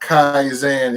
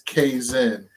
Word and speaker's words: Kaizen: It's not Kaizen, it's Kaizen.